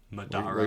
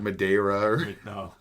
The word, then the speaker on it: Madara: again Mo oh oh I almost said like a pleb pronunciation Madara like Madera the b m i